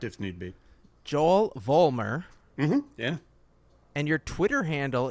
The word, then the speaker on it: Vollmer: Joel Vollmer.